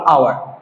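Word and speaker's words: hour: 1 আওয়ার। দুটাই কিন্তু এইচের পরে ও আছে। এক জায়গায় আমরা এইচ সাউন্ড আছে, এক জায়গায় এইচ সাউন্ডটা সাইলেন্ট আছে।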